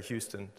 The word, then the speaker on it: Houston: House in Rochester, the Houston Museum of Fine Arts, or I should say Houston. Some Americans say Houston, Houston Street in New York, and Centre Canadien